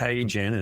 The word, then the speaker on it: HeyGen: So, is it HeyGen or AI Gen? Just spell it out for our listeners. It's HeyGen as in H E Y Right. G E N. HeyGen.